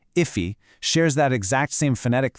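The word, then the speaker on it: efe: Even F, which is pronounced Iffe, shares that exact same phonetic thread right at the beginning.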